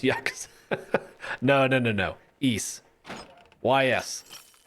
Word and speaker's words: Ys: eight why it's called y s y S8 so ease that's how it's pronounced it came out the